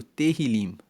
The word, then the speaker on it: Tehillim: E o Salmo 23, vamos lembrar que a palavra que os salmos no hebraico, no livro hebraico, ele é chamado Tehillim. Se escreve T-E-H-I-L-I-M.